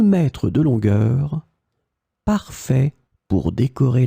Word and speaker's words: mètre: In this lesson, we will see together 3 words that will be written differently but pronounced the same way. Maître, mètre, mètre.